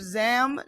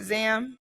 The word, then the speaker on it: Zam: Zam? Yeah, Zam Jewelry.